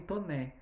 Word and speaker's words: Taunay: Depois eu vou ter Inocência, de um autor chamado Visconde de Scragnoli Toné. Se escreve Taunay, mas se fala Toné, certo?